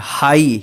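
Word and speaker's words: high: एच आई जी एच इसको क्या पढ़ेंगे हाई हिग मत पढ़िए या हाग मत पढ़िए ठीक है ना इसको हाई पढ़ेंगे हाई मतलब ऊंचा यहां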